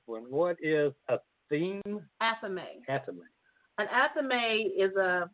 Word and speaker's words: athame: Okay, well, you might have to help me pronounce this one. What is a theme? Athame.